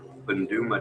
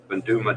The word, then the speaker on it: Boondooma: I want to go to Banduma Dam and fly Where? that. Banduma Dam.